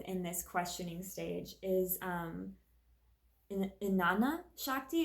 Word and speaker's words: Jnana: this questioning stage is Inanna Shakti. It's spelled with a J, but I believe it's silent. I might be wrong. Jnana Shakti is about the mind, the thoughts, wisdom, and intuition.